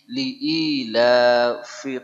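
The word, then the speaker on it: لإيلاف: liilafi Quraisy liilafi Quraisy kesalahan umum yang pertama pada huruf Fa Ya orang kita membacanya Pi ya atau diganti Fa dengan huruf P ya maka kekeliruan ya sering kita ulang bahwa di dalam bahasa Arab tidak ada aksara p yang ada Fa Ya jadi harus bernafas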